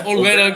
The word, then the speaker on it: Olvera: Did I pronounce that right? That's Olvera.